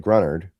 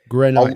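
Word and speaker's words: Greenard: in, we can't get Grunard or Grenard. I I'll learn how to pronounce it. Grenard. You got to just remember it's French, so it's got a little French.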